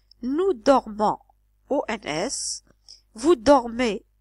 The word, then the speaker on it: dorment: dormons ou ns vous dormez Z il ou elle dorment ent c'est pas il dormant c'est il dorme faites attention à la prononciation d'accord donc ce verbe